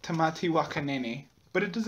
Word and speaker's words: Tamati Waka Nene: today is a renowned tomato Waka Flaka which is part of the tea Mai exhibit in the museum well actually it is pronounced tatti wakan but it does not